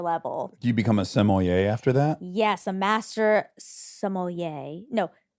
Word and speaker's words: sommelier: Do you become a sommelier after that?